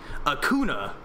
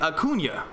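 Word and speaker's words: Acuña: Because most people would think Acuna. Like, if you were just reading it phonetically, it would be Acuna. But because it's got the little Enye on there, it's Acuna.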